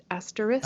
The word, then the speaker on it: asterisk: how about that ask asterisk i'm glad you pronounced every letter in that because sometimes clearly yeah i was